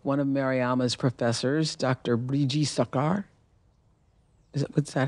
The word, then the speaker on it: Brijee Sarkar: Briji Sakar, is that how you pronounce yep. it? Briji Sakar, attempts to sexually assault her.